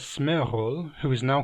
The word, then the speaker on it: Sméagol: Based on its spelling, you may read the aforementioned name as Smeaggel and so wonder why I pronounce it as Smearhol.